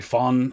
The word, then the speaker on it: von: that it should be fun it's more of an f sound than a v sound forgive my american-ness on